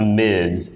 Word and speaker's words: Ms: gonna hear this s but for this one it sounds like a z it sounds like Ms m-i-z okay so that's the